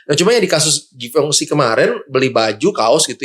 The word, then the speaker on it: Givenchy: Cuma kalau udah di atas itu ada paling, kalau kalian tahu itu yang dari Perancis tuh Givenchy, bacanya Givenchy ya kan?